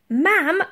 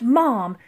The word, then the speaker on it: ma'am: it an all ma'am ma'am not mom it rhymes with Pavel jamb are done it and